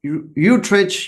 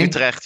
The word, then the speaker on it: Utrecht: From Utrecht University, the Netherlands. That's also correctly pronounced? No? So it would be Vincent Hoogerheide with a Okay. from Okay. Utrecht University.